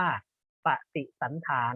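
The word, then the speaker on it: ปฏิสันถาร: ปฏิ สัง ขาร อ่า นัก เรียน อ่าน พร้อม กัน อ่าน ว่า ปฏิสัน ถาร ก็ คือ การ แสดง ความ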